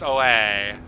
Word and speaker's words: OA: I love how the voiceover pronounces my name OA. Not OE, it's OA.